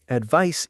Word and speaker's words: advice: Advice ends like ice. Advise ends like eyes. Ice and eyes advice and advise.